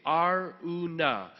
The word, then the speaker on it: Araunah: Araunah.